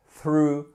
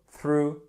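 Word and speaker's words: threw: notre ami tu jeter comment on le prononce to throw through thrown jeter let me repeat THR through Throne has from the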